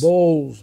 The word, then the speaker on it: Bowles: pronounce your last name it is Bowles b-o-w-l-e-s balls he claimed that I